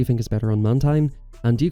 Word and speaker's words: Mantine: move set do you think is better on Mantine and do you call this Pokémon Mantine or